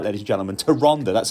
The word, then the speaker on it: Tyrande: these are the Tyrande that's right ladies gentlemen to Ronda that's how you pronounce it not to Rand a skier that's like mega nerd moment anyway it's